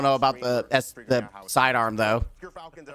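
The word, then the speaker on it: Gyrfalcon: Gerfalcons, everyone. So anyone who mispronounces it, that's how you say it.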